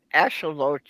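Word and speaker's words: axolotl: Ash ashelote. Yeah. Um I I was have I was having trouble, you know, doing your pronunciation, but I can do Jenny.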